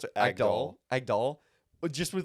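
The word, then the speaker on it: Agdal: it's picture pictures of Nina how do you pronounce her egg doll egg doll but just with like random celebrities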